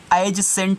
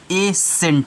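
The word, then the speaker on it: ascent: क्या रहेगा साइलेंट रहेगा तो इसको एज सेंट नहीं पढ़ना है इसको आप क्या पढ़ोगे इसको आप सी साइलेंट करके ए सेंट पढ़ोगे क्या पढ़ोगे ए सेंट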